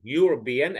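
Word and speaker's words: Europe: حرف من حروف الفاولز لكن هي تنطق يو اوكي تنطق يو يوروبيا اكنها بنقول حرف اليو يبقى اذا استخدم اي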